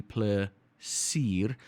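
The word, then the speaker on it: plesier: the moment we've got which is essentially pla seer that is sort of like the beef sound the e sound from beef right which is you're welcome right or you know welcome plesir then we've got aseblif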